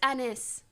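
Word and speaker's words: Anys: n y s enus it's pronounced Anis like it's not giving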